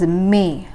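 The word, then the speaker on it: میں: I is I and in is me like April May June me so our second post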